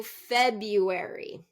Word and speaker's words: February: more here let's do February it is spelled with an R but we dro the R so instead of February